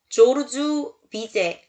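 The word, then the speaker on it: Georges Bizet: 다음 알아볼 잡고 까는 bz 이라는 작곡가에 요 비제 는요 조르주 비제 라고 읽고 요 역시 19세기 때 활동한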